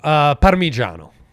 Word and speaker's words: Parmigiano: Parmigiano. okay, could you Americanize that for us a little bit? Not with the O on the end. Parmigiano.